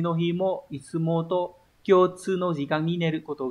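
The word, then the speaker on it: 共通: Từ này là cộng và thông, đọc là kyotsu. Và từ này mang nghĩa là chung. Đấy, thông thường nó dùng dưới dạng thức là kyotsu.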